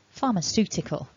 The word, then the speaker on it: pharmaceutical: really difficult ways um sue just think like the woman's name sue pharmaceutical that's the tip today sue works in pharmaceuticals so if you want